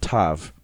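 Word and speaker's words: ת: can be quite confusing first modern ashkanazi Jews use an s like sound for the soft version of Tav while Safari Jews use a t like sound as in tet while yeminite Jews use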